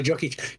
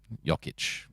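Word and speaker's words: Jokić: Nikola Jokic didn't win the MVP again this year. Let me hear you say that ain't right. Overseas guy. That ain't right. Jokic.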